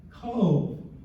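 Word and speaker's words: Cobh: 12th to the 1400s the area cove pronounced c-o-v-e even with that funny spelling but the significance of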